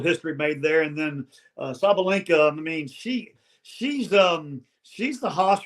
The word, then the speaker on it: Sabalenka: Sabalenka. That's how you say her name.